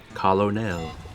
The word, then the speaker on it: colonel: How can Colonel be pronounced any other way than that? Is there another way of saying Colonel? Oh, you're saying it's pronounced different than it's spelled.